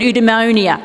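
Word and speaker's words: eudaimonia: philosophers had a word udonia don't know how you say it sounds like pneumonia but anyway it translates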